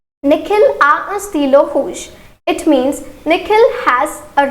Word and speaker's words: rouge: The pronunciation will be same. That is rouge.